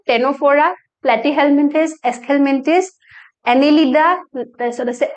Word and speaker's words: Ctenophora: C to pronounced hoy, C to silent hoy. So itu hol cnidaria. Etu to same hobo Ctenophora, Platyhelminthes, Aschelminthes, Annelida, so ase Arthropoda, ta mane amar insect class to mollusca.